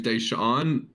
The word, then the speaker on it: Daishen: Dacian. One of my problems with Dacian Nix is that his name's Daishan, but it's spelled Daishen.